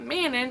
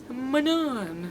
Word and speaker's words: Manon: It's not Manon, it's Manon.